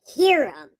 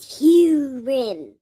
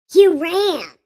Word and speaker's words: Huram: I know you you would pronounce it Hiram, like my name, but it's not my name. His name is Huram. Huram.